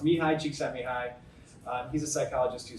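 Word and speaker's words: Csikszentmihalyi: just I'll tell you Mii Chek sent Mii doesn't look like that it's pronounced Mii cheeki High um he's a psychologist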